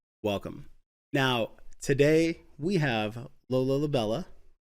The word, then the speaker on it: Lola La'Bella: Now, today we have Lola Labella, right?